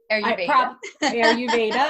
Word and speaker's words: Ayurveda: Ayurveda.